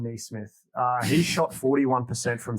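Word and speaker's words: Nesmith: smith knee smith okay there's no i in it by the way yeah no it's just me smith oh okay so it's definitely not so maybe it's yeah sorry if we've butchered your name miss denise smith yeah it's smith nee smith uh he shot 41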